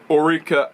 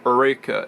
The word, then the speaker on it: Oreca: One of the Oreca LMP2 cars, or Oreca if some people like to pronounce it, had an engine failure reminiscent of Denny Hamlin at Infineon.